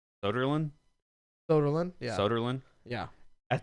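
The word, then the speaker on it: Söderlund: Soderlund?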